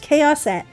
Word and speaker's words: Chaoset: My username is pronounced Chaoset. Chaos with an et on the end.